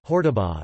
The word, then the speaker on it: Hortobágy: Hortobágy (Hungarian pronunciation: Hortobágy) is an 800 square kilometers national park in eastern Hungary, rich with folklore and cultural history.